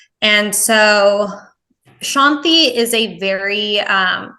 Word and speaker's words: Shanthe: just saying Shanti but in India the t is actually a th sound and so it's either spelled s n TI or s h n t i both pronounced Shanty but my mom thought